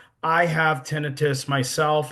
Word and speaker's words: tinnitus: Some people pronounce it tinnitus, but it's actually tinnitus. I have tinnitus myself.